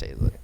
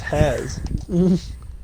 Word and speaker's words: Hazlitt: Yeah, it's pronounced Hazlitt. I never knew I that. thought it was Has.